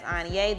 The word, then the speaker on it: Anye: If you are struggling to pronounce my name, it's Anye, the X is silent, and Anye is pronounced like Kanye without the K.